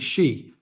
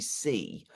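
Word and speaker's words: Xi: Uh phantom of many topics in English the word for female pronoun is she. That is how to pronounce the surname of the president of China. Not J sound in the surname but yes in middle name.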